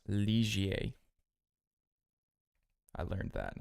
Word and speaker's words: Ligier: So this one here, this is actually pronounced Ligier.